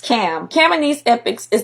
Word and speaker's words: Ham: Not only that, but so is Ham, whose name is actually pronounced Cam.